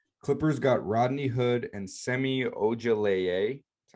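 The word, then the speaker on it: Semi Ojeleye: pistons got baggly clippers got rodney hood and semi-auger that's how you say his name sami usually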